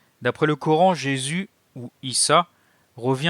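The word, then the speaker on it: عيسى: il y a d'abord Jésus qui se prononce Issa en arabe et contrairement aux chrétiens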